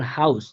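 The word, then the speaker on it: Haus: তো এখানে আমরা দেখাইছি আপনাকে দুইটা উদাহরণ, যেমন হাউস। হাউস, এখানে কিন্তু হাটা স্পষ্ট বাংলা হ এর মতো উচ্চারিত হইতেছে।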